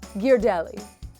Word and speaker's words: Ghirardelli: Ghirardelli.